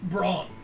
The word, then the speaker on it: Braun: It was uh Braun is uh my name. How you spell that?